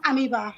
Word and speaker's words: amoeba: to the UK and I learned it was pronounced amoeba, hell, I was like, my people, our teacher,